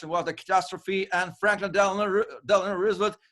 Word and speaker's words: Roosevelt: when people pronounce it Roosevelt because it sounds too nice it's Roosevelt like it's the ruse Roosevelt Roosevelt it is